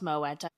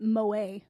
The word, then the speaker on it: Moët: However, Moette, it's pronounced Moeta. It's Dutch. The word is Dutch, but the bottle is French. Fascinating. I definitely have been calling it Moa.